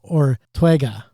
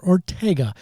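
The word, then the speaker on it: Urteaga: was Chuck Eric and Juan Ortega not Ortega unless that's how he pronounces it but there's an extra extra bit in there.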